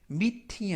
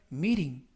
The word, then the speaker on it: meeting: 이때 meeting 하면 모임, 발음할 때 meeting이 아니라 meeting, meeting 이라고 부드럽게 발음하시면 더 좋겠습니다.